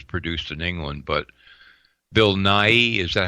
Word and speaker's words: Nighy: I guess it was produced in England, but Bill Nighy, is that how you pronounce his name? Yep, Nighy, yep.